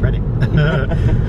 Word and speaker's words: Reading: But for those that don't know, Oracle is a mall in Reading, which is spelled Reading but pronounced Reading.